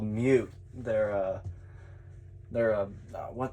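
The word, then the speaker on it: Meute: I don't know exactly where, Eastern Europe called Mute.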